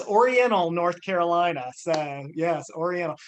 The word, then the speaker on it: Oriental: yes and you don't you're not supposed to pronounce the t in oriental it's oriental so um but yeah